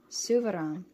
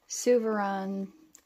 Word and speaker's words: Souverän: the anthracite black now I'm probably going to be saying suvaron and stressman that's pretty much what all of the Americans say is stressman instead of actually using a correct accent which I'm not really capable of doing so gorgeous packaging absolutely